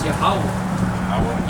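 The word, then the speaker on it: Yahweh: or yeh the the the proper way to say his name is yahwah yah yahwah and that's what the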